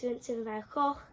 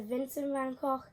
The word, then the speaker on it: Vincent van Gogh: well, how you say it in Holland is Vincent van Gogh.